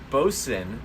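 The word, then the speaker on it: Boatswain: of 304 is the boson it's spelled boat swing but it's boson that's what i would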